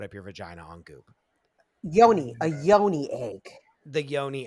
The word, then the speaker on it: Yoni: Yoni I reminded yeah I just say Yoni because it rhymes with Pony and the genuine song